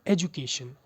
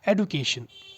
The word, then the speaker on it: education: अगला वर्ड है एजुकेशन। बहुत सारे लोग एजुकेशन बोलते हैं, but what you should say एडुकेशन।